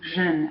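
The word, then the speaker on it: jeunes: Jeune for singular, and pluriel, jeune, add an S, but don't pronounce it.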